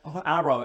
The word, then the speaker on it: Aroe: Aroe, A-R-O-E. I'm sorry. It's spelt like phonetically because I can't have two R's and another U is horrible.